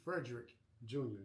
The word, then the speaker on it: Frederick: So, right now we got uh Frederick Jr., not Frederick's with the No, sir.